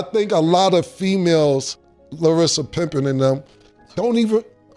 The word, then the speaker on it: Larsa: So, I think a lot of females, Larsa Pippen and them, don't even You always say Larsa, but it's okay. It's Larsa? Larsa.